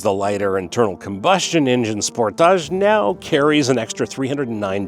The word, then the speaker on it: Sportage: Before we get into it, Kia's English pronunciation of this vehicle's name is Sportage. Americans love calling it Sportage. We're going with Sportage. It's the same car.